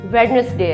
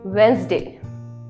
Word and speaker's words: Wednesday: आज वेडनेसडे है. आज वेडनेसडे है. नो, आज वेंसडे है. क्या करेक्ट प्रोनाउंसिएशन है? इट्स वेंसडे.